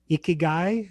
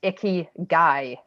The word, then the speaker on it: ikigai: okay i i i when i looked it up it was icky guy like as in like it was the way to pronounce it but then who knows